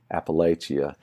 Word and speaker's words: Appalachia: the same thing to somebody who says Appalachia it doesn't sound right to me but that's because you